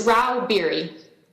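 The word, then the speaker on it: Rauh-Bieri: how do you say your name ma'am it's Ral beer thank you uh Miss Stags leral lobbyist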